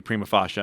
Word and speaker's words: prima facie: potentially about the again going back to Prima fasha and how that's the only way to pronounce it the that's the only